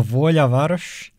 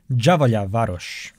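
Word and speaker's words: Đavolja Varoš: How did you pronounce that? The Volja Varoš? Javolja Varoš.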